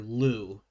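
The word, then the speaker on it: Liu: doctors chalwa and Dr Lou and Lou is spelled l IU it's an Asian name I'm probably missing a little extra enunciation in there but uh so as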